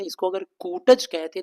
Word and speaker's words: कुटज: रहे हैं इसको अगर कुटज कहते तो ज्यादा अच्छा होता मेरे उच्चारण प ध्यान देना पहले उनको याद आया अरे यह तो कुटज है छोटा ऊ कुटज फिर कह रहे हैं